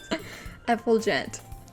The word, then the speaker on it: effulgent: things with you anyway it's pronounced fulgent oh f full effold gent okay all right okay all right well you don't have to tell me effulgent i saw i that